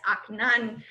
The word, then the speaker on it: Akhenaten: Yes, Akhenaten. Good job pronunciation, too.